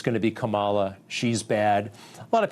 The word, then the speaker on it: Kamala: It's pronounced Kamala, like Kamala.